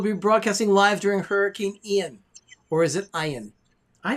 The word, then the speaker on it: Ian: We'll be broadcasting live during Hurricane Ian. Or is it Ian? I think it's Ian. I like No, it's Ian. It It's is pronounced Ian.